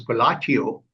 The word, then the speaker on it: Colatio: So colatio in Latin, it's pronounced as collateo. Colatio is same as collation or putting things together.